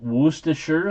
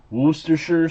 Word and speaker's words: Worcestershire: So is it Worcestershire sauce?